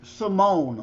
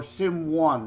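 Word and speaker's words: S1m0ne: drawing a blank with Simone or Sim 1, however you wish to pronounce it. Simone with 1 for the I and 0 for the O because it's about digital simulation.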